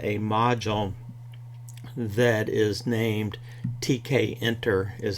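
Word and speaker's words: Tkinter: to talk about a module that is named TK enter is how you pronounce that some people say kinter or twinker or something like that but it's based on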